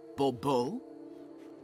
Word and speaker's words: Bourbeau: Fine, Monsieur de Bourbeau. The emphasis falls on the last syllable. Bourbeau?